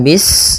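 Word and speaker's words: بسم: Pada bacaan bis ini, sempurnakan huruf sinnya. Ketika sinnya sukun, ini ada sifat saofir. Dia harus kita alirkan nafasnya.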